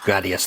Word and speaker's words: Gradius: Or Gradius 3, however you want to pronounce it, but it is actually Gradius 3.